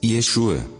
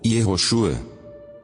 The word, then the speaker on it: Yeshua: Dizem que em hebraico pronuncia-se Yeshua ou Yehoshua. Claro que não era Jesus a pronúncia na língua que se falava ali, mas isso não tem importância, porque o nome verdadeiro dele, só ele sabe.